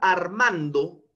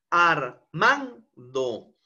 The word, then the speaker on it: Armando: Pero ¿cuál de estas sílabas es la que tiene una mayor entonación de voz, una mayor vocalización, un mayor impulso de voz? Es la sílaba man, ¿no es cierto? Armando.